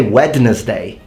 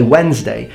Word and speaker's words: Wednesday: what about the D why don't you say wedness day you say Wednesday the D is there because of warden Wen